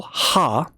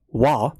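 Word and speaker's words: は: Uh as a particle, ha is pronounced wa.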